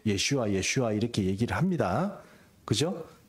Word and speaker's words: 예슈아: 예수님을 저주한다 그래요 그래서 우리가 예슈아 이렇게 발음을 하면 예수님의 어 하나님은 구원이시다 말 말이 되지만 예수 이렇게 얘기하면 그 저주받은 자 이런 뜻이요 그래서 우리가 히브리 말 제가